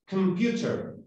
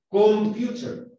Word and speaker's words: computer: Es computer. No es computer. No es con O. No alcanza a ser una vocal. Es la mitad de una vocal.